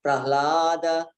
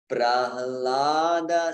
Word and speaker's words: Prahlada: So sometimes it's saying Prahlada, but it has to be Prahlada. So pra is also a heavy syllable, and you have to give it some time. You have to give it some weight. It's not Prahlada, it's Prahlada, tan, tan, tan. It's not ta, tan, tan.